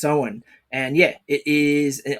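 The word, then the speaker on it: Samhain: I kept reading it in my brain as Sam Hayne as well but it's actually pronounced so on because because it's the old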